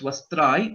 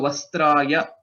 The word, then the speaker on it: वस्त्राय: Okay, so one important thing, it is not just Vastrai, it is not half ya, okay, it is full. So Vastraya, Vastrena, Vastraya, this has to be pronounced in full.